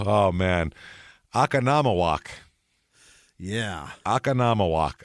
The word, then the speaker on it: Oconomowoc: man aanam walk yeah akan walk I'm pretty sure that's how you say it if not hey